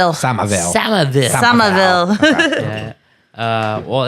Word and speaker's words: Somerville: Did I pronounce the town right? Somerville.